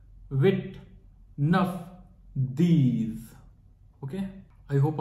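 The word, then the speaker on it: huit: होंगे ट की जो फ्रेंच में स्पेलिंग है एच यू आईटी तो इसे हम पढ़ते हैं विद एक्चुअली फ्रेंच में most of the time H जो होता है वह साइलेंट होता है तो इसलिए हम इसे पढ़ते हैं विट विट वापस से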